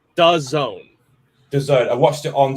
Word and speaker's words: DAZN: It's DAZN.